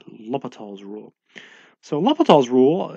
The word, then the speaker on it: L'Hopital's: different spellings of l'hopital's one of them actually says hospitals but it's not pronounced hospitals rule its l'hopital's rule so love Lethal's